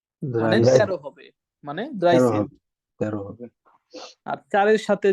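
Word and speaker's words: dreizehn: বড় করলাম সবার সুবিধার্থে dry plus Sen ড্রাই সেন মানে 13 14 কে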